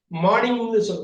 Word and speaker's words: morning: இந்த ஆறு மார்னிங்னு மார்னிங்னு சொல்லக்கூடாது. இந்த ஆறு உச்சரிக்காம பேசணும். மார்னிங் மார்னிங் மார்னிங் மார்னிங்னு சொல்லக்கூடாது. மார்னிங் மார்னிங் இந்த ஆறு உச்சரிக்க கூடாது.